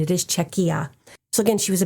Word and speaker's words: Czechia: But I did look up the pronunciation. It is Czechia.